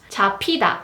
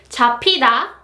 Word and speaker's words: 잡히다: 잡히다. And the next one is meo-ki-da, meo-ki-da, meo-ki-da. And it means to be eaten or to work or to be effective. Again, 잡히다, 잡히다, the p sound.